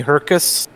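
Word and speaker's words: Hrkac: guys on Quebec who, one of them named Tony Herkus, yeah, which is spelled H-R-K-A-C, and Stefan Morin, M-O-R-I-N.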